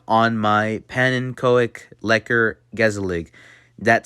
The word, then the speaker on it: gezellig: And then you have a word that looks like it says gezellig. It's actually pronounced gezellig.